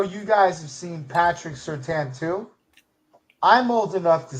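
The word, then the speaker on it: Surtain: We were calling him Patrick Certain. We didn't learn that it was Certan and you're not supposed to pronounce the I in his name until like the last two years of his career.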